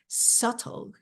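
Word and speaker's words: subtle: 그러한 변화는 are sule 자 여기서가 발음이 안나요 자 이거 음이라고 하는데요 sule 그래서 미묘해 미묘해 and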